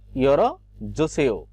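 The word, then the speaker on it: 열어 주세요: কিন্তু এখানে রিয়লটা সাধারণত যে এখানে অবর্ণ চলে আসার, কর্ণবর্ণ চলে আসার কারণে কিন্তু আমাদের রিয়লটা ল উচ্চারণ হবে না, তখন হবে কি ইয়রো জোসেও, খুলে দিন।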